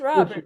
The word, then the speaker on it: Robert: It's Robert. But he likes He likes Roar. Robert. Oh, Robert. Huh? Robert. Yeah. Rober. That's the French pronunciation.